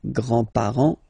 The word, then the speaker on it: grands-parents: Remember, you don't pronounce this final S here, grands-parents, okay?